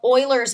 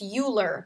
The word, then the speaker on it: Euler: Okay, today we are going to learn a cool little topic called Oilers's method. I know that you want to pronounce this uler but that is wrong.